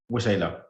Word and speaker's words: Waxela: So, wa-shay-la, W-A-X-E-L-A, pronounced W-A-S-H-A-L-A-Y. Something like that.